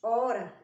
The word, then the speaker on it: hora: E a palavrinha que te mostrou antes, hora, ela começa com H. Ela tem o som mudo, essa letrinha H tem o som mudo. A gente pronuncia a partir do O.